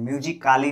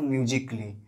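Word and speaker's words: musically: म्यूजिक काली नहीं बोलते हैं, म्यूजिकली।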